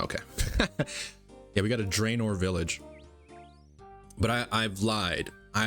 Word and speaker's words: Draynor: Yeah, we got a Draenor village.